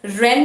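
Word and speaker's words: Wren: icsc people prefer uh rend martins and then we have ample number of other publishers it's w-r-e-n w is silent it's ren and martin icsc people prefer ellen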